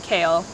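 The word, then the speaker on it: Kael: The next name, it's funny because when I first heard this name, it's the name Kale. It's spelled K-A-E-L, how I saw it spelled.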